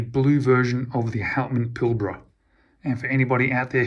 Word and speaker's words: Pilbara: we have the Blue version of the houtman pilbra and for anybody out there who's interested in one of these watches it's pronounced pilbra pill bruh I'm from the exact same location as Jason